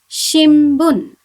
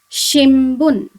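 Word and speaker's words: 新聞: have some examples here the first example is shin bun now you can see here i have the letter um before boo so it should be pronounced as um okay so this word should be pronounced as shimbun shimbun which means newspaper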